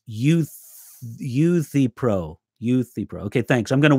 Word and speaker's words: Euthyphro: And oh, great, Robert, it's Euthyphro. Okay, thanks. I'm going to work on that pronunciation.